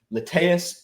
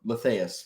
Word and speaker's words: lethaeus: I'm your host, Eric Crawford, and today we're talking about Nanotyrannus lethaeus or lethaeus, because you can pronounce it either way, meaning dwarf tyrant or forgetfulness or small tyrant of the river of oblivion.